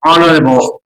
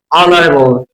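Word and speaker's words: honourable: বলতে আওয়ার ঠিক সেইমভাবে বলা হচ্ছে অনারেবল অনারেবল অনারেবল তাহলে অনারেবল অনারেবল না অনারেবল ঠিক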